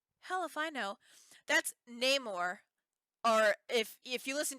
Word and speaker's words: Namor: was that English hell if I know that's Namor or if if you listen to some of the new Latino people namur number it's supposed to be Namor Namor oh okay his name is Namor it's